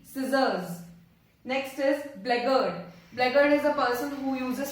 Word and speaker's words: blackguard: स का साउंड आ रहा है scissors में, but C का नहीं आ रहा है, तो which letter is silent? The letter C, scissors. Next is blackguard. Blackguard is a person who uses foul language or bad language against women.